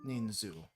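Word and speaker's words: 人数: Is it ninsu or ninzu? Ninzu. Okay, it's ninzu.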